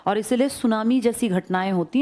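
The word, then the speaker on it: tsunami: मैं तो सुनामी की बात कर रहा हूं ना। सुनामी जापानी भाषा का शब्द है। जिसमें टी साइलेंट लिखते हैं। ऐसे बोलते हैं। लिखते हैं टी सुनामी। बोलते हैं सुनामी।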